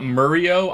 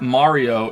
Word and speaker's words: Mario: that's cool but it's not Murio I'm not even American who says Murio no who who the pronounces his name Murio I think the only